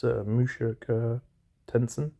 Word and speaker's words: Mushoku Tensei: Try to pronounce it correctly. It's Mushoku Tensei.